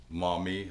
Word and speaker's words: Maumee: Now that we got the baseline readings from Maumee, is that how you say it?